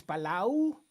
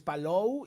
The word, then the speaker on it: Palou: Eso de Kilw, en lugar de Kilwood, este Alex Palau, que es Palou y dicho por el mismo Alex Palou, porque en la presentación de pilotos cada quien da sus nombres.